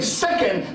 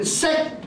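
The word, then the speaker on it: 石鹸: But the small tsu does not make a sound. It only tells you to wait before you proceed to the next syllable. This is very important. So I was saying second, but it really should have been sekken.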